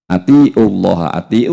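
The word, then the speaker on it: أطيعوا: Kalau ini kan perintah, artinya atiullaha, atiu artinya hendaklah kalian semua, atiu artinya ada panjang dibacanya, atiullah, taatlah kalian kepada Allah,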